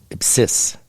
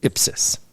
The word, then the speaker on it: ipsis: I had to retake my Mass exam because I said ipsis instead of ipsis. Because the accent is never on the last syllable in Latin.